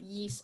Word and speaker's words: Ys: The only reason I know it's pronounced Ys is because Joanna Newsom in like 2006, her debut album was called Ys, and I listened to